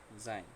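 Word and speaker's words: sein: এসের পরে যদি ভাওয়েল থাকে, এখানে ভাওয়েল আছে এ, তাহলে ওই এসের উচ্চারণটা জয়ের মতো হবে, ঠিক আছে। ওই ওই এসের উচ্চারণটা জয়ের মতো হবে। তাহলে এখানে কি হলো? জাইন।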